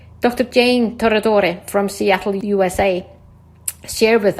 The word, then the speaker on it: Tornatore: I go into my Italiano. That's awesome. Isn't that, by the way, how you pronounce it? I do hope so. You know, when I'm in Italy and when I'm especially gregarious, that is exactly what I say.